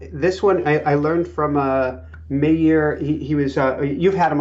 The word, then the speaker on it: Meir: Or his name is pronounced Meir. Meir.